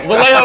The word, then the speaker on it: Vallejo: Vallejo rhymes with say Every time these niggas say that's something, I what it is.